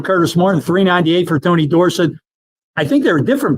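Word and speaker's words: Dorsett: Um but I, you know, he keeps pronouncing it the Pittsburgh way. Dorset instead of Dorset. That's right. It's Dorset.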